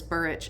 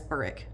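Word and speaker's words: Burrich: And he pronounces Burich as Burick.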